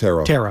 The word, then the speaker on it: tarot: Tarot. Oh, I thought it was with the T at the end. I guess the T is silent.